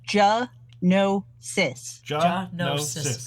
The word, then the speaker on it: Gianotsos: can remember hunting and it makes it make three syllables ja no sis we're close hypnosis yeah